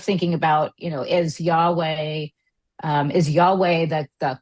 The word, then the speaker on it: Yahweh: So this is is this parallel to owi the you know owi like they the Judea Judaism and I might not be pronouncing it right but um you mean Yahweh?